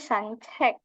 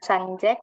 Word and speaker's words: 산책: Ini sancek. Jadi kalau bukan sanjek tapi sancek. 산책. Sancek karena dia pakai ca ya.